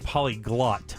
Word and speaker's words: polyglot: By the way, if you can speak multiple languages, it's polyglot, not got.